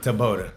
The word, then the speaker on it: Taboada: but remind me of the last name and pronunciation cuz I'm I'm going to butcher it. I'm just telling you right now. Tabota. Tabota.